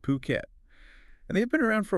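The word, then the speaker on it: Phuket: based in fukat yeah fukat or as we should be pronouncing it puket and they've been around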